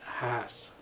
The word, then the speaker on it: Haas: telling the interviewer that mr haas actually pronounced his name hass so for all these years everyone's incorrect so who's right mr